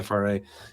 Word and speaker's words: FRA: FRA.